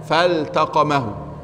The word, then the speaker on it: فالتقمه: طيب يا شباب، في الآية 142 فالتقمه الحوت، فالتقمه الحوت، هنا اللام مظهرة مع أن بعدها تاء، فالتقمه.